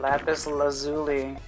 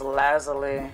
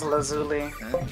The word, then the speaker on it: lapis lazuli: guess we're swapping thatu oh that's how you pronounce that lapis lazuli okay I thought it was Laz but I guess it is lazuli sounds Italian to me that hole is going